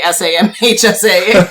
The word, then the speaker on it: SAMHSA: Is it SAMHA? What? How do you say that? I don't think you can say it. It's just, so people just say SAMHSA, and that's what they...